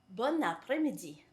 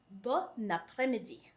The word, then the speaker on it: bon après-midi: But precisely because it is followed by a vowel, we say bon après-midi. So there's a liaison right there.